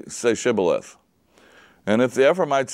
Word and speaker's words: Shibboleth: And one way is pronounced as an S sound, and the other way as an SH sound.